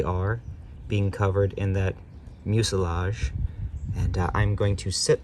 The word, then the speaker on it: mucilage: up the pronunciation of mucilage, and it is actually mucilage. So I had read it in scientific papers, and I had never heard it, so my intuitions went with garage or mirage.